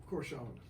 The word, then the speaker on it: Corcione: Angelus, and the way you pronounce the last name? Corcione.